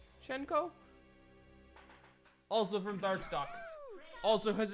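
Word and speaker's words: Hsien-Ko: Fort Gauntlet we have shenko I'm pretty sure is how it's pronounced shenko also from darkstalk also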